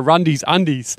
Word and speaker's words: Rundies Undies: Now, also, we spoke about this off air, you do a little thing called Rundies Undies. Would I pronounce that correctly?